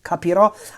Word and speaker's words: capirò: All these future tenses with the accent on the last syllable. Capirò, I will understand.